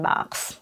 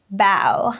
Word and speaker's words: bow: link here or the link in the description box there are a lot of heteronyms I will